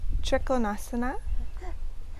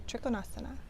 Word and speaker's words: Trikonasana: Trikonasana. Sometimes you hear it extended triangle pose. So Uttita Trikonasana. Uttita meaning extended. Trikona meaning triangle. Uttita Trikonasana. A lot of people just shorten it to Trikonasana.